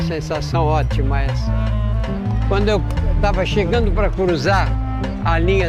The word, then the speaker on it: tava: e estava virou tava. No português falado, o verbo estar quase sempre perde a primeira sílaba.